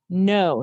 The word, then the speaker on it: know: letters didn't we and we spelled it with a k n for the n o because if i know